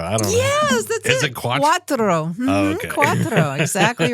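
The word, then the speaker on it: quattro: okay how do you say four in Italian quatra I don't know yes that's Quatro Quatro exactly right okay now I want you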